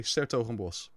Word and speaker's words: 's-Hertogenbosch: We put an apostrophe S instead of des before the word. And then we don't even pronounce the DE. So it's actually Des Hertogenbosch, but we say 's-Hertogenbosch.